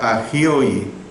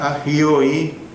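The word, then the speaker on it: ἅγιοι: Santos es la palabra griega agioi. Es una condición positiva de pureza. Se lo repito, santos es la palabra agioi, con H, es una condición positiva de pureza.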